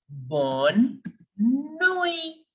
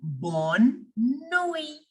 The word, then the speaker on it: bonne nuit: Please don't forget this very important rule that generally in French language, the last alphabet remains silent. Generally, not always. Sometimes we have to pronounce the last alphabet also, but majority of the time it remains completely silent.